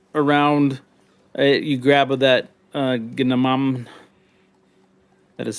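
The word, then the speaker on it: gnomon: You grab that uh ginam. That is spelled.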